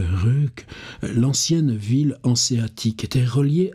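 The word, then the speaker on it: Ryck: navigable de son fleuve alors le fleuve s'écrit le le RIC r yck donc je pense qu'en allemand c'est comme l'île de de Zul qui s'écrit sy yl t je pense qu'il faut dire le RUC l'ancienne ville anéatique était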